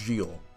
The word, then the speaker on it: Gilles: Apparently it's pronounced Gilles, because France is weird.